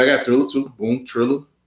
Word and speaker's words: Triller: Yeah, I think mostly everybody on Thriller. And yeah, I got Thriller too. Boom, Triller. Oh, it's called Triller.